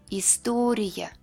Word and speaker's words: история: At the end of the word, it will be Y. Less clear and shorter than Y. История.